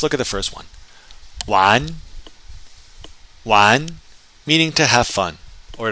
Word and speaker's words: 玩: 玩, 玩, meaning to have fun or to play. And if you're in northern China, you'll hear it pronounced with an R at the end.